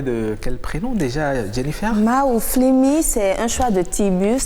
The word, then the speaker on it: Mahouflinmi: Maouflimi, c'est en 3 syllabes.